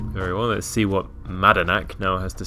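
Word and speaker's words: Madanach: Curious he called him Managnak. There is not a fourth Madanak. Yeah, there's not a fourth syllable in there. Very well, let's see what Madanak now has to say about this.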